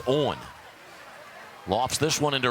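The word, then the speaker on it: Eoghan: for a strike mcgarry his first name is spelled e-o-g-h-a-n and pronounced owen lofts this one into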